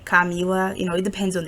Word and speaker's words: Camilla: his students um to think of the the word camilla the name camilla you know i know some people say camila you know it depends